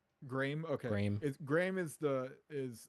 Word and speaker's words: Graeme: It's Paul and um is it's it's Graham is I it's like how it's pronounced, but it's like Graeme. Graeme.